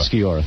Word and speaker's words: Sciorra: I think Annabella Shore looks unbelievable on that show. Annabella Sciorra. Sciorra, thank you.